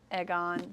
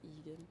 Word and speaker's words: Aegon: It's Egan, by the way. Is it Egan? Mm-hmm. I don't remember. I wasn't listening. Because I was pronouncing it like that too, and then in the audiobook he says Egan.